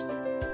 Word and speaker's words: divorce: Smith got married they broke up what's another word for breakup divorce where is the stress in divorce the stress is on the old divorce Miss Johnson and mr.